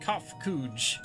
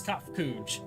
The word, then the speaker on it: Kafkuj: As for the nomenclature to address my individual person, I believe I would be pronounced Kafkuj. Yes, Kafkuj, of the Ea.